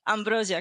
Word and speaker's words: Ambroziak: special guest it's Ambrosia is that pronounced correctly first of all yeah that's correct I'm polish so it's my surname it's not easy you know especially after